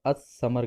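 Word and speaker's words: الثمر: अगर इससे पहले भी अलिफ लाम आ जाए तो हमें लाम को प्रोनाउंस नहीं करना है, तलफ़ुज़ उसके अदा नहीं करना है, बल्कि हम डायरेक्ट उसको अलिफ को सा से मिला लेंगे तो असमर कहेंगे।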